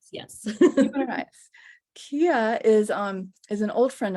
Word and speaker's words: Guimarães: I've been getting tutoring on how to pronounce Kia's lovely last name. Guimarães, yes. Guimarães.